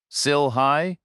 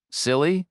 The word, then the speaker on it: CILHI: "CILHI," Reacher said. "It's right inside here." He pronounced it phonetically and it made her smile. "Silly?" she repeated.